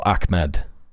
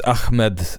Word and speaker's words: Ahmed: just simply refuse to It's not going to be pronounced Ahmed. Al Akmed. It's Ahmed. Al Ahmed.